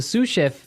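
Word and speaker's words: sous: s o u s so the S is silent because it's like a French word yeah something like that okay so the suf is the second in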